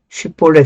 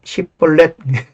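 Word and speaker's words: 쉽볼렛: 요단강을 건널 때 이제 그 에브라임 지파는 사투리가 좀 있나 봐요. 쉿볼레 대방에 안 되는 거예요. 쉿볼레보다 쉿볼렛.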